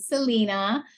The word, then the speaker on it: Selena: icon Selena or as she and her family pronounce it Selena and um yeah there's a lot to say